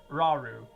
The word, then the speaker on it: Rauru: I, Rauru, that's how you pronounce his name, Rauru, and one of the sages, and your power